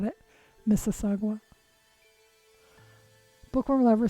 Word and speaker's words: Mississauga: So do we have the Mississauga rattler, and then what other one?